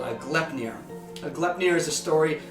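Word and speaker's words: Gleipnir: are they monsters uh it's spelled g-l-e-i-p-n-i-r uh glep-near you might it looks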